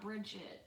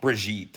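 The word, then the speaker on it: Brigitte: that's that's no it's it's not Bridget I mean it is like brigit or something yeah it's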